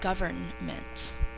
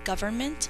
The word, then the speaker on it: government: d-e-v-e-l-o-p-m-e-n-t development number 13 government the word govern plus the suffix m-e-n-t three syllables the government makes laws to protect